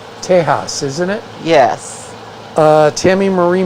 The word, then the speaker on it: Tejas: I thought it was pronounced, the proper Spanish pronunciation is Tejas, isn't it?